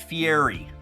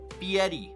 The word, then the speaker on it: Fieri: going to need it stop pronouncing it Fieri his name is Guy Fetti guy fiti okay it's pronounced fiti not Fier all right guys that